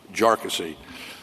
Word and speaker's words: Jarkesy: and by the way it's pronounced jassy uh not not a number of other ways that that it's been pronounced by by many um the the